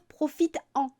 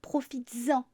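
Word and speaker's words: profites-en: on rajoute un S on ne peut pas dire profite en on dit profitesen avec la liaison c'est aussi difficile de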